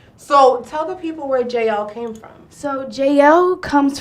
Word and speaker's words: Jayel: want to just be an issues but it's pronounced as JL so you did the Draco before Draco yeah